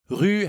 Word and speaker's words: rue: then rue means street rue has the same u sound that you hear in rue hotel also as you might